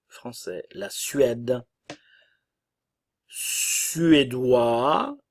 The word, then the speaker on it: suédois: U français la Suède suédois le S ne se prononce pas nous avons le son